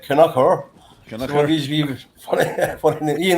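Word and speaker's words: Kilconquhar: And then he goes through a wee village called Kilconquer, which the Americans say is a Skelly Conquer, and the locals cry it Canucker.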